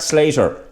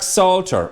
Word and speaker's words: Salter: town the told Jack Salter I'm Slater its salt or s al ter sorry jack I do